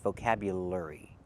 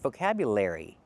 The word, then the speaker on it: vocabulary: The word is not pronounced vocabulary. It's pronounced vocabulary. We cannot use the er like in burger. We have to use the air like in hair and chair.